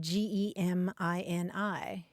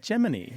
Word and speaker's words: Gemini: the one that spelled g e m i n i how do you say it most people say Gemini like if your sun sign is a Gemini that's what you say